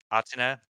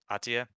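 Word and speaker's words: Athia: I just can't pronounce that. Uh, Atina, Ahtia? Ahtia, yeah, Project Ahtia.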